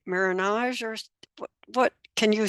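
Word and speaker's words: marronage: if I'm pronouncing this right but it's like marage or what can you spell that and I can and tell me a little bit what what that is yeah uh marinaj it's spelled m a r r o n a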